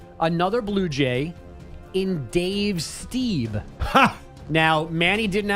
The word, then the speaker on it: Stieb: I think I said Steve. What's his name? Dave Stieb.